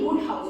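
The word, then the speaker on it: Wodehouse: from har so PG woodh house okay even though the spelling is w o d e this pronunciation is W house is or was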